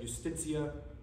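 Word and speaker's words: iustitia aliena: I think it's pronounced Justitia Aliena, so it's I-U-S-T-I-T-I-A, and then alien with an A at the end. Is how you write that. Thank you. I heard R.C. Sproul pronounce it, and he said Justitia, so I'm going with that.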